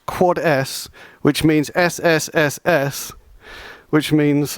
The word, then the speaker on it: 4S: Uh because because 4s is generally pronounced quads which means sss which means I think server side secret storage and like what is that right?